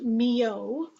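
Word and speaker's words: Milhaud: a piece by a composer whose name is pronounced Mio it's a little different than it looks uh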